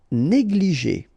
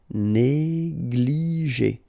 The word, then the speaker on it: négligé: Négligé, okay, accent aigu here and here, et, négligé, négligé.